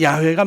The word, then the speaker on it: 야훼: 그 잘 몰라서 아니고 여호와 야외는 발음을 원래 잘 모르는 발음이 여호와 라고 했다가 야외가 맞닿아 4 야외가 맞는 것이 대부분으로 이렇게 요즘은 그렇게 야외로 어 인정을 하고 있어요 근데 영화 여호와 해 왔으니까 그냥 우린